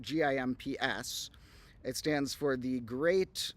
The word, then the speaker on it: GIMPS: And then here, we get all these ones that look like they say GIMPS. Unlike other words that also are spelled and pronounced like that, this is more of an acronym, GIMPS.